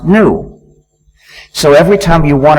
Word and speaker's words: gnu: so and even better according to the dictionary the g is silent and the word is pronounced new so every time you